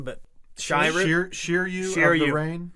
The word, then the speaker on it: Shiryu: So it's the second user, and I forget exactly how you say his name, but Shiryu Shiryu of the Rain.